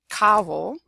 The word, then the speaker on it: Cabo: If you have a CO, a CA, a CU, or a C plus a consonant, it will be pronounced K.